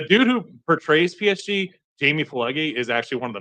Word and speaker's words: Pileggi: It looks like Pileggi we're spelling, but it's I'm pronouncing it phonetically.